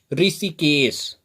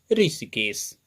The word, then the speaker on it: ऋषिकेश: उच्चारण करके देख लीजिए, ऋण, ऋचा, ऋषभ और ऋषिकेश, सभी में छोटी ई के जैसा ही आवाज है।